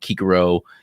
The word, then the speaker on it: Cicero: pronounce the stroke but kikaro the the c's a little weird in latin so just in case